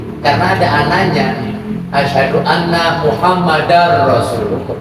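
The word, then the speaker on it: محمدًا رسول الله: Asyhadu anna Muhammadar Rasulullah. Bacanya dar, bukan dul.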